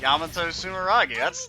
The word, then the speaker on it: Yamato Sumeragi: Yamato Sumeragi. That's how I pronounced it when we got that A thing.